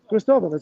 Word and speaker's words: Cristóvão: Cristóvão. Cristóvão. It's like What was the Christopher. right? No, I know, but what's the right pronunciation? I wanted to right Cristóvão. pronunciation. Cristóvão.